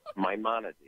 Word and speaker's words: Maimonides: just tore it up that's okay see it's Maimonides Maimonides okay okay Maimonides so how does that